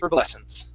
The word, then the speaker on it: Herbal Essence: States the H in herbs is silent. Okay. Okay. So you may hear something different from the Canadian or the British. No. Yeah, in the US this would be herbal essence.